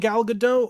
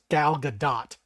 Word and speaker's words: Gal Gadot: I don't mind Gal Gadot, or sorry, They still, I was yeah, correct. It's Gal Gadot. You actually have to pronounce the T.